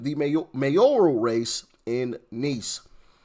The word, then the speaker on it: Nice: mayor mayoral race in Nice. I believe that's how you pronounce that, right? It's not nice. It's nice. That's how you pronounce that city.